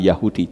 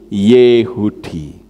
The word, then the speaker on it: Yahudi: kata orang banyak berkata Yahudi membacanya bukan Yahudi tetapi yehudi loh saya ngerti seperti